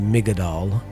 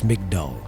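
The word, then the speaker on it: מגדל: It's not migodall, it's mcdal.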